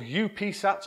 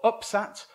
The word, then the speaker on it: UPSat: built and flew and it's called upsat or upsat or if you're one of my colleagues from greece they pronounce it oopsat which i think is just the oops it's just brilliant um